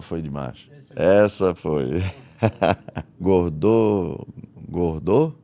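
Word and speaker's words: Gordeau: Gordou, é assim que se pronuncia.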